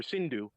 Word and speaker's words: Sindhu: They were across the river Sindhu, and they pronounced it Hindu.